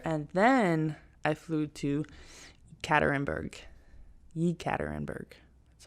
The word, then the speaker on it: Yekaterinburg: And then I think I had like a 6-hour layover, and then I flew to Yekaterinburg. That's how it's pronounced.